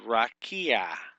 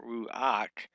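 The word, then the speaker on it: רוּחַ: is a one syllable it's not ruak it's Rak one syllable Rak it gives that a sound right there at the end now we've talked about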